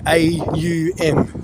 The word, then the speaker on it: Om: Whereas when we're actually pronouncing it from our belly breath, it's actually AUM.